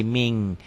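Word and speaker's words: مِنْ: Kof ya hukumnya ikhfa tulisannya min min tanpa G ditulisnya dibacanya jadi Ming Min qobl mqoblu minqobl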